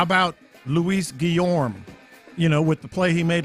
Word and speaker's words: Guillorme: Is it Guillorme? I thought it was Guillorme. I feel like with the Spanish background and everything. Guillorme is how you're supposed to pronounce it.